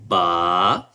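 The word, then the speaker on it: باء: And when we pronounce ba, we just together both lips and we pronounce it clearly ba.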